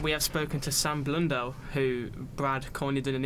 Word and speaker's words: Blundell: Can I get your full name and how to spell it, please? My name's Sam, and obviously SAM. Yeah. Surname as well? Oh, Blundell, BLUNDELL.